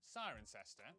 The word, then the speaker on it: Cirencester: But before you get too reassured, for every rule in the English language there are always exceptions, such as the Cester in Cirencester, the W in Sandwich, and the sound in this is disgusting.